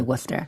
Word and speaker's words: Worcester: which is of course spelled we were Chester but we say Worcester New England okay uh